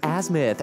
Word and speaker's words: azimuth: what they call the azu as apparently it's pronounced azimuth a tool used for maps or something but